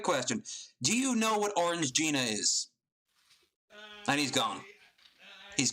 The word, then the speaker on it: Orangina: Do you know what Orange Gina is? And he's gone. He's gone like the moon. I know enough. I mean, I know it's it's pronounced Orangina, obviously.